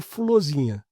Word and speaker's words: Fulorzinha: Então, deve ser uma maneira de pronunciar florzinha, né? Mas como virou, como virou, não, como é do folclore, ficou fulosinha, né?